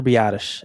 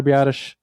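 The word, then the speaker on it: Biadasz: Did not even try to pronounce that last name. Yeah, most people cannot figure that one out, but if you're a Badgers fan, you listen to hearing his name plenty of times before he got drafted. But yeah, it's Tyler Bottish.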